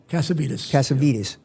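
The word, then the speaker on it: Cassavitis: How do you pronounce the original name? Cassavetes? Cassavetes.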